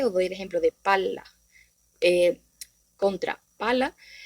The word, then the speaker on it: palla: Os doy el ejemplo de palla eh, contra pala, y ya con esta duplicación de la consonante, en este caso L, cambia totalmente el significado y por consiguiente también la pronunciación.